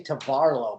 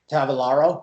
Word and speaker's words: Tavolaro: guests here sid and actually i always say tavarlo but how do you say your last name uh it's tavelingro tavalaro oh nice okay yeah that makes more sense